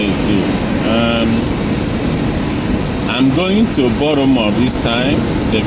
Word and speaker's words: Baltimore: It's not Baltimore, it's Baltimore. That's the way Americans call it. When you are in Rome, you behave like Romans. So I'm going to Baltimore. The T is silent. You don't pronounce that T.